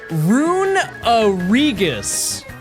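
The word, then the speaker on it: Runerigus: It's pronounced rungus. Where's the uh where does the uh come from? We said it's ru n e rune and then r i g us u s is the remainder of it. So we already have the rigus. Where is the uh we're pronouncing E twice.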